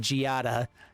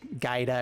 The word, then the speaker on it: Giada: been saying it wrong it's it's an italian name giada um i i think i just i've uh yeah there's a lot of other things that are gaida or whatever gaia stuff